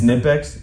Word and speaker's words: Knipex: It's Nipex, and I'll never say it any other way. Okay. Knipex.